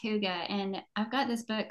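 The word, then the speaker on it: hygge: word is spelled Hy G G but it's pronounced Huga and I've got this book called the little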